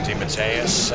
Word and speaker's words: DeMatteis: It's J.M. DeMatteis, I believe it's pronounced.